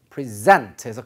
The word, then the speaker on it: present: 이때는 발음이 present에서 발음이 아니라 강세가 뒤로 갑니다.